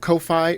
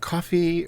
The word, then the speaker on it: Ko-fi: You can do it through Ko-Fi, or is it Coffee? Or I've heard people pronounce it both ways.